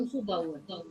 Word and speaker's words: umzubauen: Umzubauen. Ja, umzubauen. Die Betonung liegt auf dem ersten Teil. The first half.